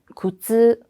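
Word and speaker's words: 苦痛: 근데 굿츠는 이렇게 길게 쭉 늘어져요. 아, 이거는 고통이구나.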